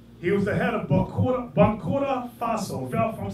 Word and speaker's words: Burkina Faso: He was the head of Burkina Faso. If I'm saying it wrong, you'll correct me. What is it? Burkina Faso.